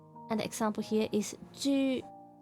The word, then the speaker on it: 猪: YU similar to the U in the menu. It's a U sound. This is a true U. And the example here is 猪.